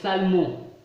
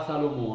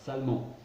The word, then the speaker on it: Salmon: Matthieu, par exemple, nous dit qu'elle fut la femme de Salmon, pas Salomon, hein, je ne prononce pas mal, Salmon, un prince de la tribu de Juda.